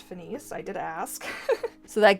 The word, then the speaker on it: Finis: And another popular Monofin, we have the Finis Luna, and for anybody wondering, it is actually pronounced Finis.